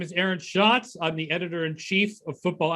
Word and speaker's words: Schatz: and then he said something about it rhyming with shots and beers, and so I'm like, okay, so we'll go with Schatz and Tanier.